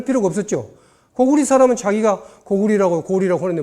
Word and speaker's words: 高句麗: 레로 읽지 말아라. 리로 읽어라. 근데 어찌하여 우리 학자들은 이걸 모르고 리어라고 읽는 거예요.